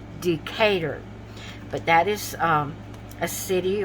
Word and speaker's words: Decatur: Visit Decatur, where it's greater. And the way I know to change it is when it says greater. I always pronounce it wrong. Decatur.